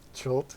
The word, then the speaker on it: Chult: Chult, yeah.